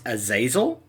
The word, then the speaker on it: Azazel: the greatest champion prevail so apparently it's pronounced azazel have you come to pride good i thrive